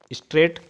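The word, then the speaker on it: straight: चलना L silent है स्ट्रेट स्ट्रेट में स्ट्रेट स्ट्रेट मान होता है सीधा स्ट्रेट में जी एच साइलेंट है मोर मोर इसमें अगर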